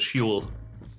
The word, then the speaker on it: Hwell: In the books, usually pronounced as Huel.